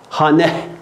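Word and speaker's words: خانه: Esre vermek için hane, sonundaki hane okunmayan bir hane değil, bak H'si çıkmıyor. Hane.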